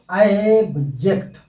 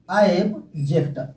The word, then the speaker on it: abject: इसे हम बोलेंगे ऑब्जेक्ट। क्या बोलेंगे? ऑब्जेक्ट।